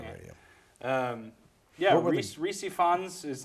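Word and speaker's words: Rhys Ifans: Reese Ifans, I know.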